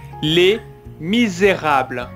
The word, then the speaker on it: Les Misérables: on va retravailler d'abord la prononciation qui est un peu difficile les misérables les misérables voilà bien prononcé le r misérable misérable très bien